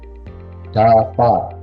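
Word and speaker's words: דבר: ya bacanya da da Kemudian untuk bagian yang kedua ini ini B dan di belakangnya ada konsonan Res nah ini bacanya Bagaimana ini B kemudian diberi eh tanda vokal kam dan diakhiri dengan Res berarti jadi far Eh ini bacanya far bnya tanpa dages sehingga berbunyi seperti V far ya Sehingga ini dibacanya Daar begitu ya dibacanya Daar dafar kemudian dalam bahasa Ibrani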